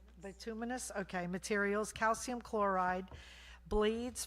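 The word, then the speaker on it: bituminous: This includes wash sand, stone, gravel, uh, latex, bitamus, how do you say it? Betuminous.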